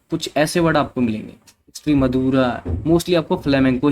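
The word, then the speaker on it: Extremadura: Sorry, मैं माफ़ कीजिएगा, थोड़ा इसको अलग तरीके से प्रोनाउंसिएशन करेंगे, ट्राई करते हैं। एक्स्ट्री मधुरा, है ना, स्पाइया जैसे लिखा हुआ है स्पेनिश में, ऐसे ही इसको करेंगे।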